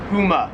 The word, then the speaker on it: Puma: Australia called Pumas or what they say puma like a little gun like pew pew pew.